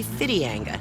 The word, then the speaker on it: Whitianga: white-sand beaches and the town of whitianga actually fiddy anga the Maori pronunciation just the names of